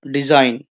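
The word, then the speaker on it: design: चलिए अब आगे है, read the words, word डिजाइन allowed, डिजाइन। What did you observe? The letter ji is silent.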